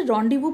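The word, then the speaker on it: rendezvous: अनफॉरगिवन वू होता है यह जो स्पेलिंग लिखी है इसे रॉवू प्रोनाउंस करते हैं और इसका प्रोनंसिएशन रडि वू होता है उसका अर्थ होता है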